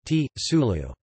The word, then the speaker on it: Zulu: The letter Z, found mostly in foreign words and names such as Zulu, may also be pronounced as T, S following the influence of German, thus Zulu, T, Sulu.